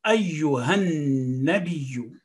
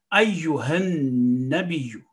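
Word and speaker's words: أيها النبي: Noon is mushaddad, so again, stress on it with a fatha. Ba with a kasra, and it is joining with ya, which is again mushaddad. So there are 3 mushaddad letters in this word. Ayyuhan nabiyyu. Ayyuhan nabiyyu. So that is basically the right pronunciation for this word.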